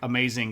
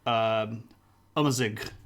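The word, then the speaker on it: Amazigh: It doesn't actually pronounce like amazing at all. It's more like amazig. The A's in Arabic act quite differently than A's in English do. And the first one is almost like a U sound.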